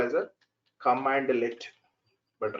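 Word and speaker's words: cmdlet: We should call as a command let. But written we will write in this style, but pronounced as a command let.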